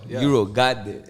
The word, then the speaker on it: Eurogotit: That's why I make sure it's like they don't get it mistaken for got it. It's got it. Like, Got it. Oh, I got it. Man. Okay, I got it. I got it. Like, just like that.